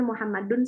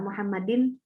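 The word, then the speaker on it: مُحَمَّدٌ: Mungkin ada yang bertanya, Bu, kok dibacanya Muhammadun sih, nggak Muhammadin? Ya, karena memang dia sebagai pelaku, sebagai fa'il.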